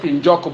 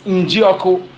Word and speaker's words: Njioko: Supposed to be I there, but you know they call it Njoko, but the real pronunciation spelling is Njioko.